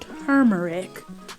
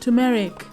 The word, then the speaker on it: turmeric: cube i like to add curry powder and turmeric which i recently learned is not pronounced turmeric like my mom says at this point go